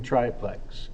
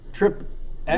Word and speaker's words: Triplex: a difficult time pronouncing Triplex it's Triplex it's not trip x wait really you think